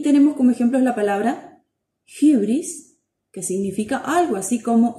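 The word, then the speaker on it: ὕβρις: Suena como una U francesa, vamos a tratar de pronunciarla, Y. Y tenemos como ejemplos la palabra hybris, que significa algo así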